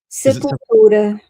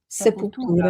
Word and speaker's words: Sepultura: How do you pronounce their name? Sepultura. Sepultura. Sepultura.